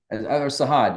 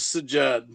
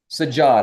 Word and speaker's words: Sajad: Sahad. Am I pronouncing your name right? No, but I've been called worse. My name is Sajad. Sajad.